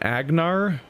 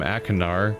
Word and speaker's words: Achenar: at night we did he pronounced his name AG gnar is that so far off of how it's spelled that it I'm like baffled that that's where they landed Agner okay I've been calling I'm achenar cuz that's how it's spelled I'd even I'd even maybe except except like a Kenard but I think you pronounced it a ganar like a G which is like confusing